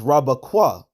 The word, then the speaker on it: Rebekah: Connect this here between the Kwa and the Ha, because her name is not pronounced Rakwaba Rabakwaha. It's not Rabakwaha, it's Rabakwa.